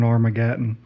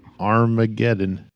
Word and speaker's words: Armageddon: oh my goodness gentlemen's I'm still stuck on armagen that's how I've said it my whole life armagen well you were absolutely wrong your whole life